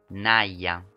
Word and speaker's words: Naya: And just to make sure I'm saying it right, Naya.